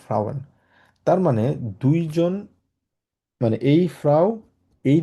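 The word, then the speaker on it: Männer: এন এন থাকার কারণে মান। আর এটা এটা হচ্ছে এম এ, মেন না, মেনা। একদম শর্টকাট আমরা বলি হচ্ছে মেনা, মেন, কারণ এটা উমলাউট আছে, আয়ের মতো, এর মতো উচ্চারণ হয়।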